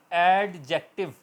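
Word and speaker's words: adjective: इफ़ the letter D comes before J इन the word, it sound silent. For example एडजेक्टिव, ठीक है, मगर ये एडजेक्टिव है, एडजेक्टिव, D silent रहेगा, ए के बाद J की आवाज़ है, एडजेक्टिव, एडजेक्टिव।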